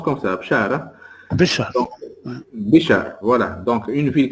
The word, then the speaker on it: Béchar: Ça s'appelle, ça se prononce comme ça, Bchar. Hein? Béchar.